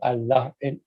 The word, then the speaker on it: الله: A ra, here Allah is being preceded by a zabar fatha, so Allah has to be pronounced. This is called lam jalala of Allah. So not Allah, Allah, Allah. It has to be with a full mouth.